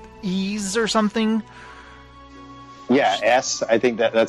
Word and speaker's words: Ys: point I know there's a video game called why apostrophe s but they call it ease so that I'll really